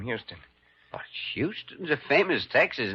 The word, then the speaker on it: Houston: Except here in New York, you pronounce it Houston.